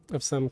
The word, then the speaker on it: SoW: And a lot of them were asked how they pronounce SOW. And every single one of them said so. So I want to say to anybody who wants to pronounce it sow, you're wrong. You are incorrect.